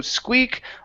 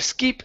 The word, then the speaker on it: Squeak: Okay, so Squeak always wore his protective gear. Skip always wore his protective gear. Good, all right. And that first word, instead of skeep, it's squeak. Squeak. Squeak.